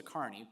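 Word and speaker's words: Kearney: But she was pointing to a study by an economist named Melissa Carney, pronounced the same as mine but spelled different.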